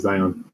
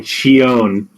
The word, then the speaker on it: Shion: No, I meant the whole boss fight with Zion. I mean, Shion. Shion. Sorry. Yeah, Shion. Yeah, that's how you pronounce the name.